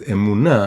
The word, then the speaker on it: emunah: like I said, is emunah, and you can spell it emunah. So it has the word moon inside the word emunah, the word faith.